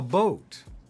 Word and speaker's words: boat: They bought a boat. What does that bought rhyme with? Caught, shot, taught. What does boat rhyme with? Goat.